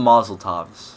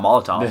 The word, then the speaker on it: Molotov: You keep calling them Mazel Tovs. Yeah, I know I'm not saying it right, but what can I say? Okay. Apparently so, not Molotovs.